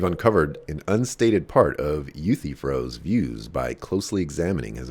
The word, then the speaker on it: Euthyphro: i don't i don't know uh youth froze pronounced euthyphro okay you see so savage excuse me you